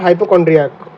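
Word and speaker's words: hypochondriac: हाइपोकॉन्ड्रियाक। Hypo, कौन की spelling क्या होती है?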